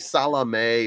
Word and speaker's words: Salame: gonna call him salami I know it's like salame or something like that but uh his name is spelled like salami and he looks uh